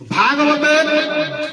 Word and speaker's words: ভাগবত: সমাপ্তির দিকে যাব বিশ্রামের দিকে যাব ভাগবত ভাগবতের উচ্চারণটা হলো এরকম ভাগবত তো ভাতে কি হয় ভাগবতের